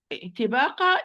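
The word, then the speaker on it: طباقا: So if I'm going to recite this word properly, it's going to be طباقة طباقة. Yes, it's having kasra. Sorry, it's having kasra. So this is the lowest degree of tafkhim, but still it's مفخم.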